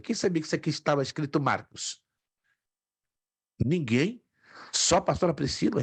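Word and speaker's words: Μάρκος: Marcos. Exato. É um nome masculino. Marcos.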